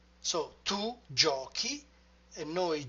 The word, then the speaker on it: giochi: But if we simply add the E in tu, then the sound would be gioci. And instead we want giochi.